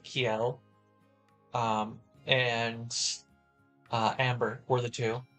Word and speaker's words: Kiel: With Rune Factory 4, it was Kiel or Kiel, or I pronounce it Kiel.